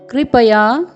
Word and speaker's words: कृपया: यहाँ पर क में री का स्वर है, क्री, र का स्वर नहीं है। इस बात का आपको ध्यान रखना है। क में री का स्वर है, कृपया।